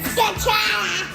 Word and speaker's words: scacciata: Say it like real Italian, like Scacciata.